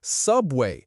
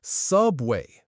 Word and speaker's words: subway: And subway, stress the first syllable, subway.